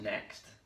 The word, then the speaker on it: NZXT: I think it's supposed to be pronounced next with a Z or Z.